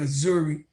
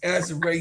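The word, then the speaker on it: Azurá: Just saying, no matter how many times you correct him, Tony just said Azuri name. Azure. Yeah. Azure. I'm country. I get it right. Azure Stevens.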